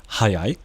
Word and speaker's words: 早い: Okay, so the first one over here on the left is obviously, by the way, they're both pronounced hayai. Okay, they're both pronounced hayai, which is where the trickiness starts.